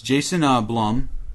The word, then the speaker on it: Jason Blum: It's Jason Blum, which rhymes with plum.